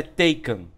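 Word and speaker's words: Taycan: tanto em inglês quanto em alemão el a pronúncia é Taken entendeu então mas provavelmente aqui no Brasil vai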